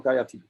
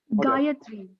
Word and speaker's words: Gayatri: Your name is Gayatri or Gayati? Gayatri. Gayatri.